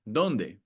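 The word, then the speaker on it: dónde: Our next rule is wherever we see an accent mark, donde hay una tilde. So we have an example of that there as well. Donde? Donde? On the O.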